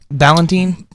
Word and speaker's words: Ballentine: of Memphis uh Lonnie Ballentine Valentine how do you say it Valentine uh yes okay you use a